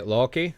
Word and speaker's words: Loki: So when I say Loki that's that's how you pronounce it.